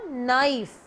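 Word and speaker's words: knife: आई ई prefer नव-नव इस मुल्क की आवाज नहीं आती इसलिए इसको बोलते हैं ना कि साइलेंट होता है हम बोलेंगे इसको नाइस नाइस नाइस चप्पू यह देखिए उर्दू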